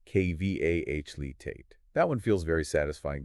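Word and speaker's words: Qualität: Now, how about a longer word, quality, meaning quality, pronounced K-V-A-H-Litate, with the emphasis on the final syllable? K-V-A-H-Litate.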